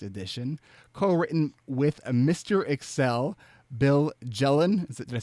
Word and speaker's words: Bill Jelen: Excel, Bill Jelen.